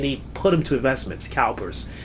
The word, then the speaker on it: CalPERS: their retirement and they put them to Investments Calpers Calpers is spelled c a l p e RS it's